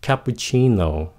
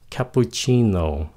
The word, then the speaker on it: cappuccino: Các bạn nghe này nha. Cappuccino. Các bạn có nghe pu rõ không? Không có rõ. Cappuccino. Cho nên các bạn không cần phát âm rõ cho những cái âm lướt. Chỉ cần cái âm nhấn thôi.